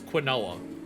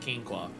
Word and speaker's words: quinoa: I thought for the longest time it was quinoa and then people told me that it was pronounced quinoqua.